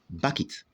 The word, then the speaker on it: bucket: So the word is pronounced bucket. Bucket. It's not pronounced bucket, but bucket. Bucket.